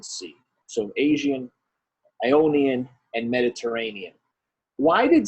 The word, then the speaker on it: Aegean: The Aegean Sea, the Aegean Sea. So Aegean, Ionian, and Mediterranean.